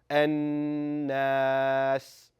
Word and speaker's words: An-Nas: So, it should sound an naas.